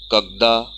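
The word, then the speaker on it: когда: If we have to ask when, so for that the word is kagda. Kagda. Stress is on a.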